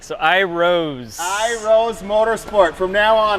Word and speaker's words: Iroz: It is not Iroz Motorsport, it is... It's Iroz.